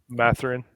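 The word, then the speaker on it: Mathurin: Benedict, damn, I can't pronounce his last name. Matherin, yeah.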